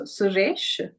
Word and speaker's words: Suresh: Now for the E sound, so the E, a single E would be pronounced as A, as in de, so Suresh, and the single O as the O in door, so Manoj.